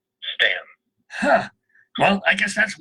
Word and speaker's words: Staunton: But in Virginia, Staunon is pronounced Stan.